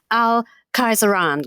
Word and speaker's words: Khayzuran: We are talking, Hugh, about somebody now who is as significant, you think, in history, al-Khayzuran.